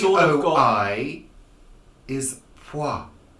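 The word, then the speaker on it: Poirot: of you Americans say parole parole it's plural like mwah m-o-i in French is moi but it's it's a guy is poi there's a w in the pronunciation it's an invisible W yeah there you go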